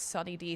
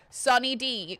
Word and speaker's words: Sunny D: It's Sunny D, thank you very much. And it's spelled with a U, not an O. That way it's all inclusive. Sunny D. Kind of like the drink, but not really.